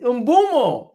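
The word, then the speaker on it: Mbeumo: name briano briano UMO it's UMO it's not UMO it's UMO I I am so bad at pronouncing his names I know you guys are gonna be putting laughing emojis in the chat of how I'm pronouncing his name if somebody can please break down how to announce pronounce his name properly is it it's IMO it's Brian IMO uh I'm so bad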